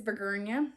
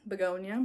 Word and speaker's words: begonia: rescaping it or whatever but yeah this is burguna begonia i should say it properly this is begonia